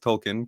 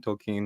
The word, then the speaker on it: Tolkien: long movies but j.r.r tolkien is how it's pronounced tolkien tolkien wright has a series called lord of the